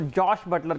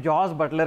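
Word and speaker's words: Jos Buttler: है उसके बारे में वो चाह रहे थे कि लोग मेरा नाम ठीक लें, वो जॉश बटलर कहलवाना चाहते हैं अपने आप को, जबकि उन्हें जॉस बटलर कहा जाता है।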